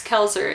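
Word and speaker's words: Koelzer: But my other last name is Kelzer. It's spelled K-O-E-L-Z-E-R. People can never pronounce it right when they look at it, but the O is silent.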